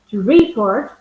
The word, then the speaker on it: report: So as Richard was saying, when I stress the second syllable to report, the report, I am talking about the document. If I stress the first syllable to report, then I am actually using the verb.